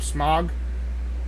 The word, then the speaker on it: Smaug: As for my honorable mentions, I have Star Trek Into Darkness, The Hobbit, The Desolation of Smaug. Easily the best of the Hobbit It's pronounced trilogy.